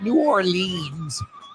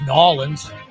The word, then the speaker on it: New Orleans: That's how you pronounce it, New Orleans. Oh, wow. That's as bad as Nolans.